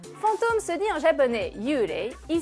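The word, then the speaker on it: yūrei: Fantôme se dit en japonais yurei, il s'écrit en kanji, avec le kanji yu qui veut dire indistinct ou vague, et rei qui veut dire esprit.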